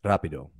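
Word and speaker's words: rápido: and a Trill so a tap is like Rapido like say rapido rapido it's but it's not it's not Rapido that's not how you say it it's a single R not a Double R but a Trill is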